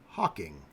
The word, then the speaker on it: Hocking: and Meriwether Lewis each called the river the hawk Hocking but that extra syllable did not stand the test of time so the river and various towns roads and businesses along it have the name Hawking instead of Hawk Hawking Washington traveled down the Ohio